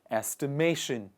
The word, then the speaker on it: estimation: that process is called estimation estimation and the stress is on the second part of the on the second part in the middle of the word please repeat after me